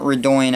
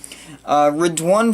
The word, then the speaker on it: Redoine: one fade rigged one not redoing actually read one fade in my last update